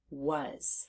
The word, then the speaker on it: was: to fingert those sounds the first sound W the next sound uh the last sound Z was let's do it again